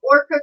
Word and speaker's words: ORQA: He can't get those, I know I'll probably slaughter that name, Orca goggles off his mind.